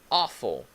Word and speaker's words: awful: So awful, okay? Can you repeat that? Awful. Remember the pronunciation, the AW, it's aw, awful, okay?